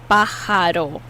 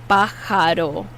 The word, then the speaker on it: pájaro: Pájaro, pájaro. The J is pronounced like an H.